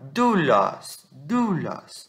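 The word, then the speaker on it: δοῦλος: Quando você tem o ômicron junto de um Y, você tem isso aqui. Isso aqui. Você não vai pronunciar ômicron Y, você vai pronunciar U. O ômicron, ele perde a sua tonicidade. Então, você vai falar doulos, tá?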